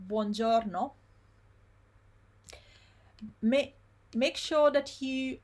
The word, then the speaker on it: buongiorno: Then I said to you, when you have long words like buongiorno, make sure that you pronounce them slowly first, so that you pronounce every single syllable first. So you go little by little. Buongiorno, forchetta.